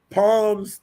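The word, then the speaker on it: Psalms: don't go to uh Palms 31. this song okay okay the p is silent come on come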